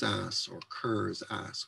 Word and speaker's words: Kerr: one example the poem carr's ass or kerr's ass we always pronounce it car as in cars pinks the potatoes we